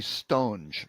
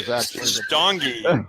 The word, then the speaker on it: St. Ange: And actually, Ed mispronounced his last name. It's supposed to be Stonge. Actually, Stongy is my favorite incorrect my last name. Stongy. I'm not sure what nationality Stongy is, but telemarketers really prefer that pronunciation of my name.